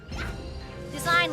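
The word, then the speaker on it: Dasein: the chosen one again design like fashion design it's pronounced like design but it's spelled like d a s e i n he like he has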